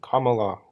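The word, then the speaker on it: Kamala: what's up sorry sorry how do you say it again Kam yeah all right my bad comma La comma La all right comma La comma La just like that comma La you can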